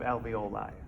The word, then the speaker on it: alveoli: Is a bunch of alveoli.